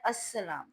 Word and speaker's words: السلام: تو یہ السلام بنتا ہے، لیکن جب ہم نے بولنا ہے تو تلفظ میں لام جو ہے سائلنٹ ہو جاتا ہے، تو یہ بنتا ہے السلام۔ تو جب بچے اس